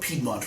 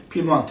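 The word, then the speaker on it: Piemonte: italians would call it we kind of butchered it over here in north america and we've always called it piedmont right but really pimonte is the official um it's a way to pronounce that region so barbaresco what's different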